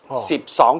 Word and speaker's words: Sip Song: Nun Song Sam Si Ha Hok Jek Pak Kao Sip It's Nun Song SIP is ten Song is two Sip Song is twelve Although Gary Lau, who